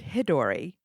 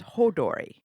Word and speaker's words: Hodori: And we've been saying it wrong, by the way. Oh, no way. We have pronouncing it Hidori. It is Hodori.